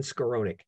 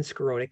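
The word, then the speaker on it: Skowronek: out the author's name for you it's steven scaronick his last name is spelled s-k-o-w-s-k-o-w r-o-n-e-k stephen scaronick and he spells it s-t-e-p-h-e-n and it's called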